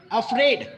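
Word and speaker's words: afraid: अगर आप दूसरे वर्ड्स लेते हैं, लेट्स से कि ये वर्ड, आप इसमें देखेंगे अफ्रेड, हम ए को बहुत ही छोटा साउंड निकाल रहे हैं, बट वी are emphasising more on द अफ्रेड.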